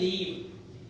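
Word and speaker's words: leave: हिंदी लिखो या एक होता है लिव, यह है लीव, थोड़ा सा बड़े ई की मात्रा के साथ स्ट्रांगली साउंड करना पड़ेगा। अगर आपको अपना प्रोनाउंसिएशन अच्छा करना है ना, तो आपको मेरी तरह बोलना पड़ेगा। लिव नहीं, लीव।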